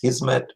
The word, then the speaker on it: hizmet: persian it's pronounced that in turkish pronounced hizmet means service so the provision of